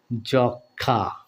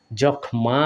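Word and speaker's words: যক্ষ্মা: তাহলে কি উচ্চারণ হয় যক্ষা যক্ষা এরকম উচ্চারণ হয় আমরা কিন্তু উচ্চারণ করি কিভাবে বন্ধুরা যক্ষা যক্ষা এভাবে ডাবল করে উচ্চারণ করি তাই না জখমা বলি না জখমা বলি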